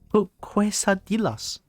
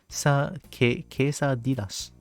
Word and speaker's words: quesadillas: Or quesadilla, yeah? But there's no Y there though. I mean, who am I to like question a language? The second? Okay, okay. LL works as a Y.